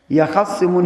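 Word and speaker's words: يَخِصِّمُونَ: يَخَصِّمُونَ here, originally it was يَخْتَصِمُونَ, but the ta here is hidden in the ha. That is why it is pronounced as يَخَصِّمُونَ.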